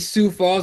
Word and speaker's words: Sioux Falls: Welcome to our UFC Sue Falls that's how you say it sue su falls yeah